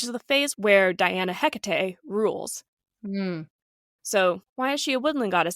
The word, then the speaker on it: Hecate: I'm going to say HEC because that is the Greek pronunciation of this goddess but when we refer